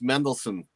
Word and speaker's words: Mendelssohn: that last one wendell hurst i i can pronounce his name though it's mendelssohn okay third scottish symphony and lip-sync gowandhouse go